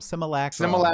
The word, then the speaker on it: Simulacrum: Simulacrum.